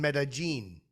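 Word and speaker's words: Medellín: say it right too i was in medellin that's the proper way to say it you ever heard of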